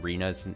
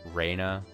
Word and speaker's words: Rena: won't get us anywhere I should mention reena's name is pronounced Raina not Reena man